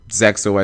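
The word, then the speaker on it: ZEXAL: through Zeal, through ArcV or Zexo as apparently it's pronounced, you see that there are periods of time where the game isn't super expensive.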